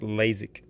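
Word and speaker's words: LASIK: you aide for sorise oh laszik lasic you pronounce it laszik that's eye surgery aren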